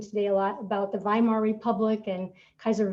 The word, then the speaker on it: Weimar: wilhelm the second and w's in german are actually pronounced like a v so we'll be talking today a lot about the weimar republic and kaiser wilhelm